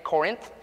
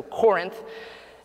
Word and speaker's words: Corinth: found out this week it's pronounced Corinth not the way the Kentucky and me was kind of saying Corinth and my wife the